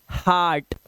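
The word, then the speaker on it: heart: बहुत बच्चे इसको हर्ट बोलते हैं, हर्ट नहीं, आपको इसे बोलना है हार्ट, हार्ट, आ की आवाज देके, ठीक है, ये नोट करने वाली बात है, ठीक है।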